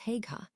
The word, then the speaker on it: Haigha: His name is Haigha." He pronounced it so as to rhyme with mayor.